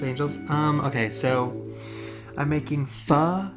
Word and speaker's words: pho: Okay, so I'm making pho. It's spelled P-H-O. People call it pho. People call it foo. People call it pho. But I believe the correct pronunciation is pho.